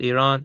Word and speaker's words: Iran: Iran, it's pronounced Iran.